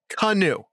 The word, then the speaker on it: Kanu: i i think cut kanu uh i i in my pronunciation well his name is spelled k-a-n-u probably if you want to like do it phonetically it'd be like k-a-h dash and you there um i'm giving pronunciation